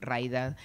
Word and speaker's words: Mraida: de saludar a raida raid raida Está bien como lo pronuncio medio que la historia de mi vida es explicar como no sé por la m la r nada en el medio difícil Así que esta